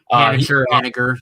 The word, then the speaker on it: Haniger: I think it's Mitch Haniger. Haniger, yep.